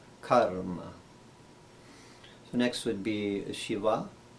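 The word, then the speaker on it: कर्म: would be karma karma lot of people they say karma like a car you're driving karma but really it it's a not the long ah sound it's a karma so next would be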